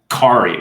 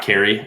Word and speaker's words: Kari: we'll go to uh Kari right not Carrie I think I've been saying it wrong muted yes I was